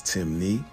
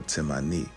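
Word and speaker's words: Temne: Despite the various spelling variations, Timni only has two ways of pronouncing it, which is Timni or Timani, and this still maintains the Mani or Mini suffix, showing further indication that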